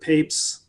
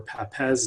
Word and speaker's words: Papez: And so we all know about the circuit of Papez or Papez, depending on where you fall on the pronunciation.